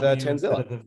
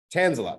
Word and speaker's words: Tanzila: Maybe I did, maybe I didn't, is joining us, as well as Tanzila. I said it wrong again. It's Tanzila.